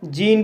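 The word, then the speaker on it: gene: और टन मीस धुन जी को को जा पढ़ा जाएगा ई को ई पढ़ा जाएगा एन को ना पढ़ा जाएगा और लास्ट में ई है इसको साइलेंट किया जाएगा इस तरह से सेे जीन पढ़ा जाएगा सी को सा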